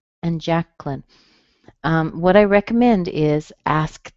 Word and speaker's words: Jacqueline: In this case, you would squeeze out the little vowel sound in the middle. So you would end up with Jacqueline, and then it would become a two-syllable word.